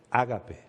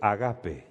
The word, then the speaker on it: ágape: Lo que en el original se llama ágape o agape, dependiendo de si lo pronuncia en castellano o en el idioma original.